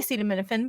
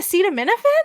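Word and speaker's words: acetaminophen: for the pain and I told the nurse I took a cedam minin but I pronounced it incorrectly and she was like you mean a CED of minin and I was like oh that's how you say that word you know so embarrassing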